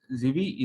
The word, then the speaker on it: Zivi: So Zivi, is that how you pronounce it? Yes, that's good.